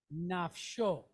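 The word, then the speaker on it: נפשו: So we have sh and then o, show. So the word is nafsho.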